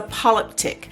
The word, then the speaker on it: polyptych: to say that but a five panel is a polyptic and you might hear it pronounced a little differently in different languages but that is how it's pronounced here in english so we're gonna have